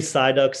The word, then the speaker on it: Sigh Ducks: But really, Sigh, the name comes from the Pokemon Psyduck. So we kind of spelled it differently. Pronunciation is the same.